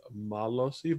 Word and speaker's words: Malosii: If I wanted to get technical, it is an ah sound on the A, so it's Malosii, but like Malosii, Malosii, like it's all the same.